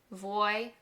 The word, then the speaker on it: vuoi: Now, as a native English speaker, the word vuoi is a little tricky to pronounce at first, but listen to me and repeat it. Vuoi, so ne vuoi ancora?